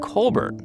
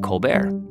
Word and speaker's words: Colbert: youngest of 11 children his family pronounced their last name Colbert the Irish way but Steven's dad told